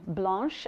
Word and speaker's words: Blanche: My name is Blanche, and that's pronounced the French way, as in Blanche.